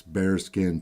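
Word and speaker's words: Baerskin: out their website it's bear skin tactical and the bear isn't spelled like a bear it's a b a e ER skin so check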